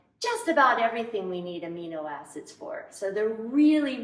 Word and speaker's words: amino: individual unit called an amino acid. Mean? No. They're not mean. It's spelled A-M-I-N-O. Amino acid.